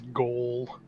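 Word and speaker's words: gaol: It's a joke, but that's how we spell jail in Australia. Ooh. I don't have any G-A-O-L. I've only ever heard it pronounced as goal, which I like which is cool.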